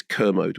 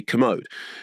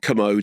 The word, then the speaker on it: Kermode: derivation of McDermott and it's pronounced literally like Kermit properly. So I would say to people it's like Kermit, you know, Kermit the Frog, but people still say Kermode.